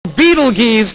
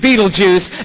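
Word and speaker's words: Betelgeuse: Beetle geese or Beetleju. You can pick your pronunciation. I'm obviously going with Beetlejuice.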